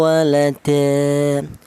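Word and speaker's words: وَلَدًا: Ini cara bacanya tanwinnya ini dibaca seperti fathah biasa ya. E seperti ini. Walada panjangnya yaitu sama dengan mad thobi'i yaitu satu alif atau dua harakat atau dua ketukan.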